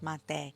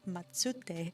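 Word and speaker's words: まって: it was saying that it was pronounced like mate, but I was like, but it says matsute.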